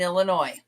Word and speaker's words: Illinois: One of the things they said was when we went through the states, they would say there is no noise in Illinois.